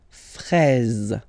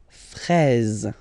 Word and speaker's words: fraise: Okay, final E, you don't pronounce it, fraise, fraise. Okay, the full thing, une fraise, une fraise.